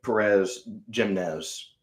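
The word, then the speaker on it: Pérez Jiménez: It goes into a dictatorship, actually, by this fella named Perez Jimenez, I believe is how you pronounce his name.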